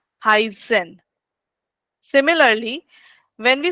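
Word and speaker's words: heißen: So when you are writing this word in between the this particular letter in between any word, that gives that sound as double S. Heisen.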